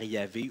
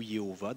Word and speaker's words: Yahvé: On appelle le tétragramme, que nous, on représenterait par YHWH, mais qui se prononce généralement par Yahvé ou Jéhovah. Je pense que c'est plus Yahvé en général, mais Jéhovah, parce que